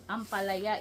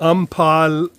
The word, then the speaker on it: ampalaya: Ampalaya in our dialect. Ampalaya.